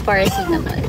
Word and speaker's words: paracetamol: Yes, the pronunciation is paracetamol.